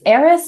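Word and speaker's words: Airess: Heiress, it's heiress, but it's spelled AIR because it's an heiress who lives on a floating island.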